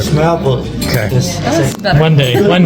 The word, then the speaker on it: smørrebrød: One more time on the how you pronounce this. This is a tata. But the actual the open-face sandwich. Smørrebrød. Smørrebrød. Smørrebrød.